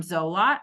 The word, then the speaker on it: Zolot: And so she nominated Tom Zolot.